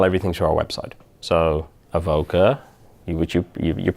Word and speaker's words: Avoka: think we channel everything to our website so Avoca you would you you're pronouncing perfectly now av ok echo time lucky